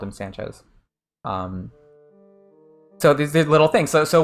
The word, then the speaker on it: Sanchez: Sanchez's Japanese name, right? Just a little thing, but it's Sanchez with an S sound, not with a Z sound.